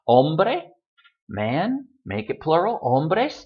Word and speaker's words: hombre: make it plural, leyes, still stressed on that syllable. Hombre, man, make it plural, hombres, doesn't change.